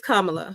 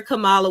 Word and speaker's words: Kamala: that's another contention is is it Kamala or Kamala it's Kamala but people call her Camala when they don't support her blah blah blah you